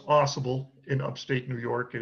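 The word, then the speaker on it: Au Sable Forks: forks New York right through here now it's pronounced aible in Upstate New York it is not pronounced OS uh and I I have personally been there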